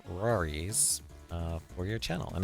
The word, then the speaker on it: RawriZ: us how you came up with the name Rory's uh for your channel and I'm assuming I'm